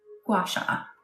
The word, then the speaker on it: gua sha: Yeah, that's how you spell it, Layla. Yes, yeah, that's it. I think that's the name of Guasha. Guasha.